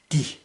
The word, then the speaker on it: det: Den, de, de. Note that the T here is silent, which is very unusual, but it's pronounced de.